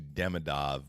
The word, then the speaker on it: Demidov: be interesting to see Demidov play in a playoff series.